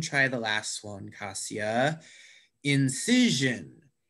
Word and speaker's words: incision: the last one kasia incision incision i think in the second just see yeah very good the second syllable incision perfect so i'm not